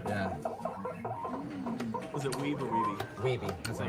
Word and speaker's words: Wiebe: Look, most Twin Galaxies call me Weeb, so. Okay. And that's a common mistake. Either that or Wibe. But at least you got the correct Steve pronunciation. Weeby is who I wanted